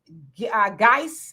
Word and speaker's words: Guice: ashanda you says hey sister is pronounced geiss okay there you go